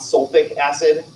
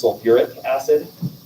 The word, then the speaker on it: sulfuric acid: syllable back in um if it's sulfate it's not sulfic acid we actually put the ur back in for sulfur so it becomes sulfuric acid i don't know why